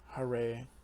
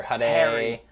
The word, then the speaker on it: Hare: hare krishna and rama pronounced hare krishna rama i like that pronunciation because some of they hear people saying in all kind of ways yeah especially hare you hear harry harry right the power of this